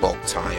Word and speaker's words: Boktai: I'm sorry, it's pronounced Boktai.